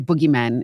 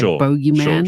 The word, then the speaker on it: bogeyman: We say boogeyman in South Africa, right? Yeah. But it's spelled bogeyman, and the Americans say bogeyman.